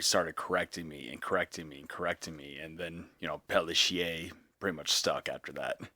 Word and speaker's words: Pelletier: And throughout school, my dad had me say Pelletier, even though it wasn't the correct way, because I couldn't pronounce it.